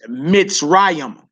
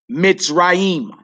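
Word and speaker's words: מצרים: Egypt is feminine, and the word is Mitzrayim. Mitzrayim.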